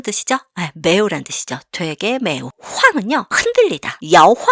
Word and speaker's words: 晃: 황은요, 흔들리다. 야황 할 때 그 황입니다. 야황은 뭐예요? 네, 이리저리 흔들리다죠? 거기에 황입니다. 황은 흔들리다 라는 뜻이에요. 사성이에요. 발음 주의해주세요.